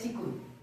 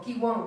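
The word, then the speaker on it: qigong: Es Chikun, o Kiwon, ¿no? ¿Es lo mismo? Sí, pues se le puede pronunciar de varias formas.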